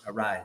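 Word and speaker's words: Arraez: do you say his name I'll take it arise there you go Louis arise um damn my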